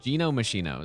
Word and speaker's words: Gino Machino: Yeah, it's Gino Machino is the correct pronunciation. At least the intended one.